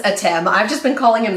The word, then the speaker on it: Atem: So Kaiba wants to bring back Adam. Etem? Whatever. They pronounce it as Atem.